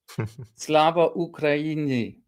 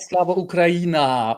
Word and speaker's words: Slava Ukraini: at least almost correctly, this phrase, Slava Ukraini. Slava Ukraini. not Slava Ukraini or something like that. That is basically Americanized.